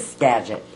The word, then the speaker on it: Skagit: Is that how you pronounce it? Skagit? Skagit.